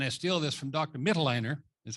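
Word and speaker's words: Mitloehner: Mittelleiner, is how you say his name, Frank Mittelleiner from UC Davis.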